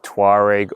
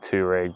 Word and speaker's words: Touareg: today we've got the 2023 Volkswagen tweg or I pronounce it teg but it depends on where you are in the world and this is the